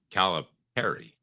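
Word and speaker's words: Calipari: um Arkansas uh John calip Perry and by the way it's pronounced like a pair um her thoughts I mean it is I mean the man that's the way he annunciates his last name so we should follow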